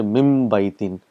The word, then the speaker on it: min baytin: You say mim baytin. So mim and ba is pronounced together.